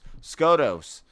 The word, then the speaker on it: Skotos: It is spelled SKOTOS.